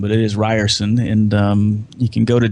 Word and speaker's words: Rierson: I ers and when it looks like it's pronounced fearsome but it is Ryerson and you can go to dose of leadership